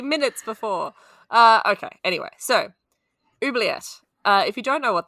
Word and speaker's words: oubliette: Yeah, oubliette.